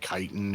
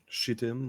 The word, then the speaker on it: chitin: have a suit of chitin armor. Of what? That's pronounced Chitin armor. with a K. CHITIN. Yeah, I know, but Chitin. it's pronounced chitin instead of shitin or Some chitin armor.